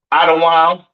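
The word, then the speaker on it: אדום: Edom, Idawam, the devil that the Bible speaks of, your oppressor, the so-called Caucasian man, woman, and child, pronounced Idawam.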